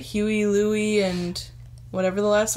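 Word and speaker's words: Hewie: Can I mention that his name is, like, it's spelled weird. Like, you think Huey is, like, Huey, but it's H-E-W-I-E?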